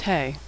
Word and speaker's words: He: The fifth letter of the Hebrew alphabet is He. He makes the sound of H, as in hello. Like H in English, He is silent when it appears at the end of a word.